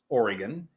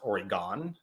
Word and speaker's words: Oregon: And I just want to say that it is pronounced Oregon and not Oregon.